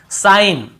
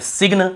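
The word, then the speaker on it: sign: रहे यहां पर भी साइन सिन नहीं पढ़ेंगे साइन पढ़ेंगे ठीक है ऐसे सि ऐसे नहीं पढ़ना है हमको साइन ही पढ़ना है लेकिन जी को नहीं पढ़ना है सिग्न कई लोग सिग्न बोल देते हैं कई लोग सिंग बोल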